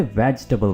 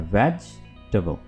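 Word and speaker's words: vegetable: tomato ना के tomato इसको हमने वेजिटेबल बोलना है वेजटेबल ना कि वेजिटेबल ठीक है इसको पुलिस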